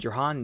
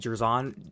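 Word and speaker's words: Jer'Zhan: I would take Jahan Newton in a heartbeat. Jerzon, I think is how you say it.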